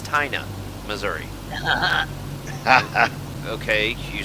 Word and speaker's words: Tina: believe this i'm in a little town called tina missouri no no no no sir that's wrong it's taina missouri okay you spell it tina t-i-n-a no it's it's pronounced china